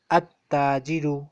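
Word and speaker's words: التاجر: But in case of Haruf Shamsiya, At-Tajiru, Lam is silent.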